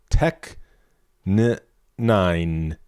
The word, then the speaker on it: Tech N9ne: All right, on Trust, NF teams up with veteran rapper Tech9 to deliver introspective bars. Or, if you really want to pronounce it, Tech9.